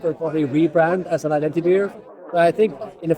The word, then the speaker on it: IdentiBeer: I mean, I would be interested to hear how they pronounce it in Italian. Yeah. But It's IdentiBeer.